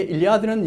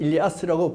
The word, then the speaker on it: 일리아스: 때때로 일리아드라 그러는데 일리아드는 영어식 발음이 일리아드고 실제는 일리아스라고 불려지는 겁니다.